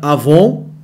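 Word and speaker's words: עָוֹן: tópico dois diz assim os termos hebraicos avom tá não vai confundir com a revista Avon que vende cosmético mas se pronuncia Avon e pechar ponto destaque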